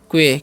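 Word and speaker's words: quay: लिखा हुआ है QUA, तो इसे हम क्या पढ़ते हैं, क्वे। क्या पढ़ते हैं जी, क्वे, क्योंकि AY है तो ए का उच्चारण यहाँ पर ए होगा।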